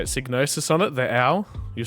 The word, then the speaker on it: Psygnosis: Signosis on it, the owl.